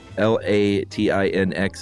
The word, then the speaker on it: Latinx: clarify a few things you brought up um l-a-t-i-n-x is pronounced she says Latin X okay uh it